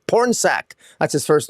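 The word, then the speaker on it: Pornsak: like I'm insulting the person and I'm actually pronouncing their name correctly porn sack that's his first name porn sack you're the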